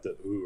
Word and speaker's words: The Hu: because like the and it's pronounced more like the ooh or something like that it's like because it's